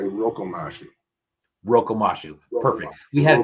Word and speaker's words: Rokomashu: Well, it's rip-off, knockoff, mashup, but I can't seem to pronounce Rokomashu, so I say Rokomashu.